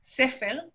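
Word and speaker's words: סֵפֶר: La segunda se pronuncia sefer, que significa libro.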